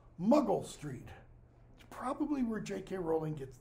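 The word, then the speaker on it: Monkwell Street: is a street name m-o-n-k-w-e-l-l sounds like it should be pronounced monk well Shakespeare's day is pronounced muggle Street probably where JK Rowling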